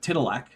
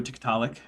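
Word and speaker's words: TikTok: Um or as Andrew Zelling would have it, Titilac, which is an interesting pronunciation for Tik Tok.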